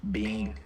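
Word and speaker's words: Byng: pronounced Ada Ada okay how how do you pronounce the b-y-n-g one Bing Bing okay yeah 2.06 inch hail right now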